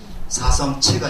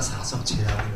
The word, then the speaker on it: 사성제: 제라고 읽어가지고 사성채가 아니라 사성제라고 읽어요.